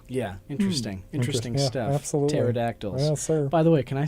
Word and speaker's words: pterodactyl: here think of pterodactyl because the p is silent oh my oh my